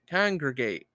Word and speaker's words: congregate: Conergate. Conergate. That's not how you say it either.